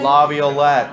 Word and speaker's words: Laviolette: How do you say Laviolette.